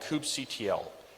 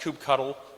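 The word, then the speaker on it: kubectl: with kubernetes is using a tool called coop CTL it's also pronounced coop cuddle but you can pronounce it however you want the typical workflow is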